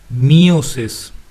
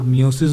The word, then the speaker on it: meiosis: तो ये कुछ लोग प्रोनाउंसिएशन पे जाएंगे, तो मेरे प्रोनाउंसिएशन के हिसाब से माइटोसिस बोलता हूँ और मियोसिस बोलता हूँ। कुछ शो में आपको माइटोसिस बोला जाएगा और मियोसिस, तो वो आपके प्रोनाउंसिएशन पे डिपेंड करता है।